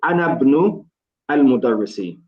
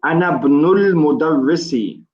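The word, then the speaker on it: أنا ابن المدرسِ: But because the alif on the ibn is known as Hamzatul Wasl, we don't pronounce it.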